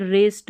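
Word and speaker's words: wrist: Worrying नहीं ring, और इसको वरिंकल नहीं रिंकल, इसको भी देखिए रिस्ट रॉन्ग, W नहीं पढ़ना है।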